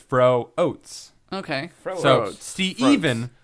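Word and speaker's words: Froats: Speaking of cheapness, uh Steven Fro um his name his name is spelled F R O A TS. And he made sure to tell me that it's fro oats. Okay. Fro even fro oats.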